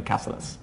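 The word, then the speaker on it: Cáceres: I heard like a Spanish guy pronounce it. Definitely Caceres. Oh, Caceres.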